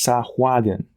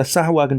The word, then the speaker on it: Sahuagin: There are two correct ways to say the word. One is Sahuagin, the other is Sahuagin. Both, with the hard G at the end, both are correct.